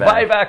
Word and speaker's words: Vivac: Oh, it's Vivac Winery.